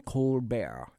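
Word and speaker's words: Colbert: John Stewart and step corar corar he prefers you pronounce it in a French uh fashion Steven cbear and John Stewart and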